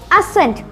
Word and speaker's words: ascent: Here the letter C is silent, so we pronounce it as ascent.